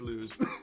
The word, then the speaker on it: Luz: loves lose loves and go with luz luz can project bright light no it's lose lose can project bright